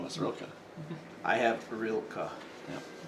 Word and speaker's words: Rilka: I have Rilka. Yeah. R I L K A. Correct. You even spelled it phonetically.